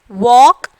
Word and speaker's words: walk: Walk. L is the silent letters.